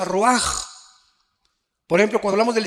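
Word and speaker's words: רוח: Raúl a c h se pronuncia raj por ejemplo cuando hablamos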